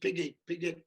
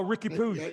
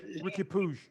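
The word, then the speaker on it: Riqui Puig: How do you say Piggy? Oh, Ricky Puig. Ricky Puig.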